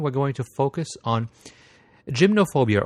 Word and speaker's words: gymnophobia: going to focus on gymnophobia or gimnophobia depending on whether you want to put the uh uh Greek or English pronunciation behind the word.